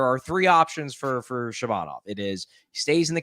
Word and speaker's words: Shabanov: So, so to give some background um on this Shabbanov Shabban Shabban Shabbanov, yeah, Shabbanov Maxim Shabbanov, I believe is how you pronounce his name.